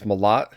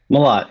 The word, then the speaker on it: Mellott: So I just found out that I pronounced your name wrong. It's Malat. Malott, yeah, that's okay.